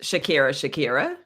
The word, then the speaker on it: Shakira: Okay, I just wanted to make the point that it's actually pronounced Shakira.